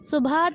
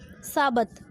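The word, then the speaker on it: Sabbath: Digital Subhat has become quite popular in West among many heavy phone user of smartphones. Sorry, its pronunciation is साबत।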